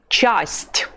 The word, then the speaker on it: часть: It is pronounced часть. Часть. You say ch at the beginning of the word, and then there is the soft sign that palatalizes the letter t.